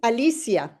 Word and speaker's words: Alicia: Is it Alicia or Alicia? It is Alicia. Alicia. Yeah, Alicia. but in Spain they pronounce it Alicia, and in here they pronounce it Alicia, Alisa. I don't mind.